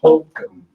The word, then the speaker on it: Holcomb: Ellie Holcomb. With a silent B at the A end.